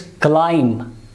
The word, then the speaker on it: climb: climb this ending sound but this will not pronounce it's climb right the next word one more example thumb